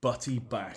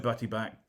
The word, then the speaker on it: Butty Bach: And one of Hereford's local beers is a beer called Butty Back.